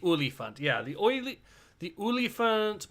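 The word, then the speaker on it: Olifant: you're trying to pronounce the afrikaans version of elephant it's elephant the oly font yeah the oily the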